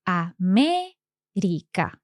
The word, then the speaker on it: América: América is also esdrújula, and it also has an accent. So, América.